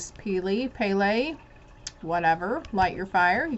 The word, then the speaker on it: Pele: get energized okay so it tells me how it's pronounced pele she's the passionate goddess